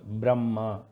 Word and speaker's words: Brahma: Brahma. This becomes Brahma, not Brahma. So what we understand, Ha, when it joins with the another consonant, it gets the pronunciation of the next.